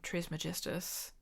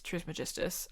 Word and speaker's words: Trismegistus: I do like the name Glaken Trismegistus.